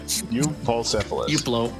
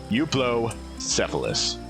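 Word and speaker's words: Euoplocephalus: Ticklish Eupocephalus. Euplocephalus.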